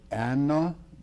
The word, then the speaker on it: Anno: the Latin, it is 2 words, Anno Domini, the year of our Lord.